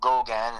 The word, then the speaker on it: Gogan: If you want to see my personal page, it's Gogan, and that's spelled Gogun.